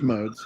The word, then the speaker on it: Modes: Points East West your last name is pronounced just modes yeah so on fly on Ricoh Thunder Rico